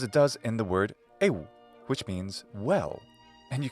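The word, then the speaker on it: εἶ: These two vowel letters, which we call epsilon and iota in English, do not form a diphthong. Rather, they're just a digraph. They don't rhyme with the English word hey or they in English. No. Together, they make the sound e.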